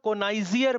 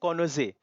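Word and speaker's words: connoisseur: अब ये देखो इसको बहुत सारे लोग कोनाइजियर पढ़ते हैं, इसको कोनाइजियर नहीं पढ़ते, इसको पढ़ते हैं कॉनोजे। क्या पढ़ते हैं इसको, कॉनोजे, ऐसे पढ़ सकते हो आप।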